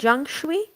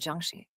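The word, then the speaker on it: jiangshi: about the the Jung you said Jung I apologize for mispronouncing it earlier it's actually called Juni the Juni is a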